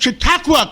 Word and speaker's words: Chautauqua: With us today is Senator George Borrello from the great county of Chautauqua County.